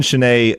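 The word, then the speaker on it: Chenier: want to embarrass myself that's not how I pronounced it so yeah I'm glad I'm glad you looked it up yeah so Clifton chenet uh he was an American Musician lived from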